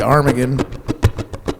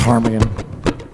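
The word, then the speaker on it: ptarmigan: It's actually the tarmaggan spelled with a pt. Armagan. I don't know what the P is there for. It's Armagan.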